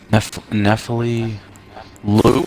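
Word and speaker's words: Nephili Loux: Nephili Lu? So it's not, you don't pronounce the X?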